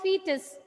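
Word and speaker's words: foetus: assay say loudly o is silent always silent what is that structure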